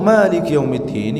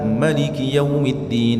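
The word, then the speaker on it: مالك يوم الدين: Ya untuk Maliki yaumiddin ini jemaah sekalian secara bacaan ini boleh dibaca dua. Boleh dibaca maliki yaumiddin atau maliki yaumiddin. Kedua-duanya diperbolehkan. Tapi antum untuk mengamalkan ini harus ngerti ilmunya dulu ya.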